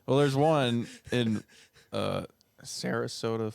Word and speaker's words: Sarasota: there's one in uh Sarasota Florida I think I'm pronouncing that right um Sarasota Florida you said it perfectly yeah uh his name's